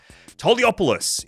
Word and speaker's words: Toliopoulos: Toliopoulos is how I would say it, and it's how you have to say it as well.